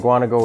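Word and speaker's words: Mukwonago: It's spelled out like Muckwanago.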